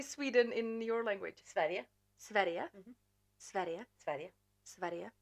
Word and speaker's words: Sverige: Sverige.